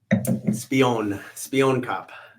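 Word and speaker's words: Spioenkop: How do you pronounce this? The Spoin Cup? Spion Cup.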